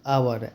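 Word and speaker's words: hour: कहां पे नहीं होगा यहां पे साइलेंट एच है ठीक है तो एच ओ यू आर आवर एच ओ एन ई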